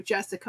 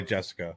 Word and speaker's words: Jessica: because I call you Jessica. Yeah, and I don't. I mean, that's my name. I don't land the hard C though. Jessica.